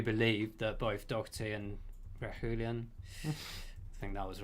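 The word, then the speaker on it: Reguilón: Requilon. That's Requilon. Requilon. Reguilon, yeah.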